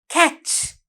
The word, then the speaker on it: catch: That is catch. බෝලේ අල්ලනවා නේද පුතේ? Catch. Can you see the word catch? C-A-T-C-H. The silent T.